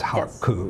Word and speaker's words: Haku: See, my name was very funny because in Japanese it's very easy, haku. It comes out as haku. Yes. You almost always have to end with a vowel sound, haku.